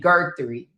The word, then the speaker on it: Guthrie: Gertie.